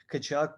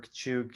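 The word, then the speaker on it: Katchouk: The thing with Kachuk was that, or Kachuk, it really depends on who is talking, how you say it.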